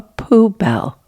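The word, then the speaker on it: poubelle: A poo bell. Anything that has the word bell in it, which supposed to be nice and beautiful. Yeah. But then you have poo. So, yeah.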